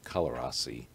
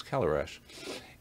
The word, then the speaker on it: Călărași: Which for our listeners, if they read it, it would look at Călărași, is the way we would pronounce it, but it's Călărași.